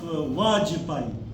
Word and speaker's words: Vajpayee: They might have Bajira, but there is another term which is a changeable, ba with va. You might have listened the name of Vajpayee, Manoj Vajpayee, one of the prime ministers of India. Instead of Vajpayee, people are calling him Vajpayee as well. So this ba is replaceable with va, like Uru Vilva, like